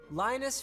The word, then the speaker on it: Linus: with Braille like I Linus rhymes with sinus which rhymes with China's